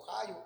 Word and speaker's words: Ahío: collado, y Usa y Ahío, o Jayo como se pronuncia, hijos de Abinadab, guiaban el carro nuevo.